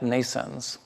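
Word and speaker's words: NNAISENSE: we are constructing at nascents nascents is pronounced like birth in english like nations but it's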